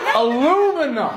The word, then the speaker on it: aluminum: She just said something that was so not a word. Aluminium? Aluminum! Die! Die! Avada Kedavra! You're all dead! You're all so dead, dude! Oh, fuck y'all, man. That's not a word. Aluminium! premium. Where are all the extra letters coming from?